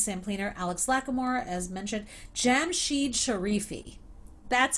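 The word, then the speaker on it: Jamshied Sharifi: michael webb james sampling alex lackamore as mentioned jam sheed sharifi that's how you say his name um ian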